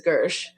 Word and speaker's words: Gershe: his last name is really spelled like it's pronounced Hershey but it's Gersh but just so if you're when you're looking